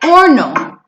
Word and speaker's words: horno: Y that H on horno is silent. So say horno.